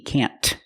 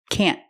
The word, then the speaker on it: can't: Don't worry about pronouncing the T, can't. We use a stop T, can't. The tongue goes up and stops the air.